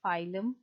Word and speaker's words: phylum: नहीं, but P is silent and you always pronounce that word as phylum.